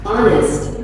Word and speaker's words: honest: honor, Nah, jadi H dibaca itu kayak A. Huruf H, beberapa kata ketika dia di depannya H itu tidak selalu bilang dibaca H sebenarnya. Nah, terus misal kayak kata ini nih. Nah, ini bacanya honest, nah, honest, bukan honest.